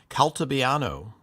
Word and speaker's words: Calabiano: Calabiano. So if you're in Italy, I think you would say more. There's no long a you don't say apple.